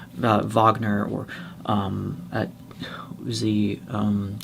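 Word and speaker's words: Wagner: very you know uh you have to make sure the German pronunciation cuz it's actually vard Vagner I think if you're going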